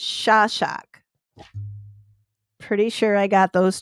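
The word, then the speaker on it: Szaszak: Okay, this is Liliana Crociati, and her married name, I gotta look at this to pronounce it right too, because it's Hungarian, and it's Shashak.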